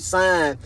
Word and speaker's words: sign: The word sign and the word signature. You know what I'm saying? That G is silent, family.